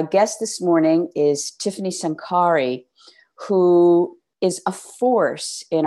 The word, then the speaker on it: Sankary: My last name is pronounced Sankary, just FYI.